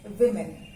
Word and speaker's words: women: not say woman's we will say women w-o-n-e-n pronunciation is not over men it is women women women women one woman many women then